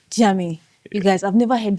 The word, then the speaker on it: Djiame: I've heard many people try to pronounce it. They either call me DJam, they call me, Uh-huh. they call me um Jamyu. All manner of things, so I mean I